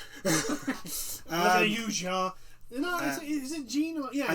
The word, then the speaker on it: Jean: Because I only know it because I only pronounce it like that because it's the same spelling as Jean from Attack on Titan.